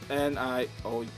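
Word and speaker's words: Nioh: They don't spell it Neo as in like Neo from the Matrix, but Neo as in Niow.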